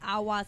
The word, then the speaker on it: aguas: And it's not awa. Awa is spelled A-G-U-A. Like water. Yeah, like water, A-G-U-A. But awas is A-G-U-A-S.